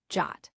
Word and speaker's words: JWT: The JSo web token or JWT pronounced Jot.